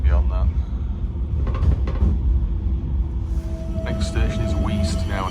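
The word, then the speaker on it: Weaste: Next station is Weast now, not here. It's not pronounced Waste, it's Weast. Weast.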